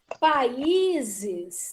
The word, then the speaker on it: países: Países.